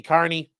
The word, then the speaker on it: Kearney: So it's Commonwealth of Massachusetts versus Aiden Timothy Kearney.